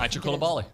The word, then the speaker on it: Aicha Coulibaly: Is that how you pronounce it? Aicha Coulibaly.